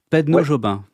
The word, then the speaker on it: Pedneaud-Jobin: la la chose la plus difficile pour moi, prononcer votre nom. Pedono Pedno Jobin. Oui. OK, je vais y arriver, je vous promets rien mais normalement j'y arrive. Maxime Pedno Jobin, bonjour.